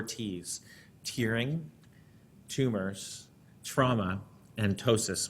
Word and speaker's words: ptosis: tearing, tumors, trauma, and ptosis, which is actually spelled with a P, but it sounds like a T, so it works.